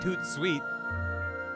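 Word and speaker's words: tout de suite: he's being cute but it's like when you say it out loud it just sounds like too sweet no matter how it's spelled or whatever it's fine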